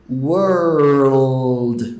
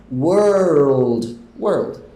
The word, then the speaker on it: world: A diferença é se você vai encostar a sua língua lá no céu da boca ou não. Se você não encosta, se você só fala word. Agora, se você encostar a sua língua no céu da boca antes de chegar no final da palavra, você tem o world. Você acaba colocando um L ali no meio, que é o que a gente quer.